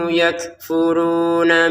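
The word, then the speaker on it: يكفرون: dengungkan ya dalika biannahumu yakfuruna biayatillah. Nah, di sini kaf dua harakat ya, nun dua harakat. Kalau mim kaf kaf ini jelas ya dibacanya. Kemudian yakfuruna. Kafnya ini ada letupan nafas. Yakfuruna gitu ya.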